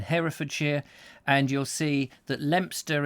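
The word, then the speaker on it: Leominster: and you'll see that lempster is actually if you were to try and pronounce it phonetically leo minster and i'm sure people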